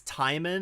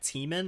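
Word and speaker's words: Tijmen: what's it vanderhelm taiman apparently it's time in and not teaming I mispronounced his name time in vanderhelm is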